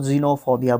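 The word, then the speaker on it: xenophobia: Fear of foreigners, उसको जीनोफोबिया बोलेंगे। भाई साहब एक्स को ज़ प्रोनाउंस किया जाता है, ज़ आधा ज़, ठीक है।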